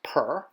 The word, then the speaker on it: pr: drawing the glyph for house which is pronounced per and having one stroke